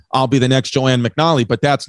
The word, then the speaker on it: McNally: How do you say it? I say McNally. Joanne McNally. That's it.